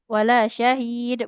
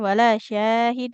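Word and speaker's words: وَلَا شَهِيدٌ: Wala syahid bukan wala syahid ya. Jadi yang panjang bukan syinnya tapi huruf ha dan huruf lamnya.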